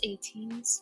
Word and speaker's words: ATEEZ: I'm back with another 80s Video yes it's 18s I learned how to say it shout out